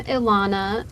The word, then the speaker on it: Ilana: So I'm Ilana. If it helps you remember, it rhymes with iguana.